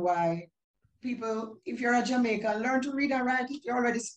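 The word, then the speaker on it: Jamiekan: here is spelled j-a-m-i-e-k-a-n that's jamaican because the i-e represents a that is the letter a in part okay this is on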